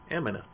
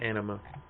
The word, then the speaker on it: Anima: could be his Aeon, Amina. I pronounced anima wrong, didn't I? It's anima.